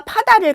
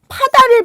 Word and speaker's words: 파다: 그런데 파다를 발음해 볼까요? 파다 파다 이렇게 바르죠.